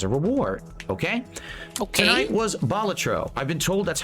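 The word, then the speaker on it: Balatro: Tri it as a reward okay tonight was batro I've been told that's how you pronounce it it's not batro like I was calling it it's batro um it's batro and luckily for me all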